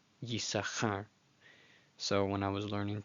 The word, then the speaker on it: Yissachar: But yeah, basically the rabbis say you're not to pronounce that second sheen, just ignore it. But it is still there in the name Yisachar, Yisachar.